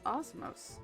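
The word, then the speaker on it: Osmose: this word before I was seeing how you pronounce it it's Osmos yes Osmos okay anyways spent too much time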